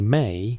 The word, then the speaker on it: me: The word me pronounced approximately may appears hundreds of times across Sumerian literature.